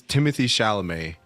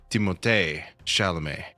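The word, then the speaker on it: Timothée Chalamet: you say it was everyone says Timothy Shalamé, but I've also heard him say Timote Shalamé, right?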